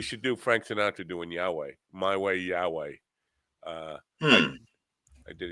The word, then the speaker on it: Yahweh: No, I think the correct pronunciation is Yahweh. Yahweh.